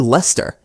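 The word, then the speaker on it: Leicester: I used to say Lester Square, but it's actually Lester. even though it's spelled Lester.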